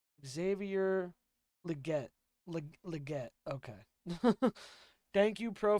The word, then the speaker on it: Xavier Legette: Oh, we also have Xander Legate.